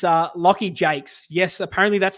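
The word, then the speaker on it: Jaques: I I'll touch on him it's uh Loy Jakes yes apparently that's how you pronounce his last name spelled j AQ U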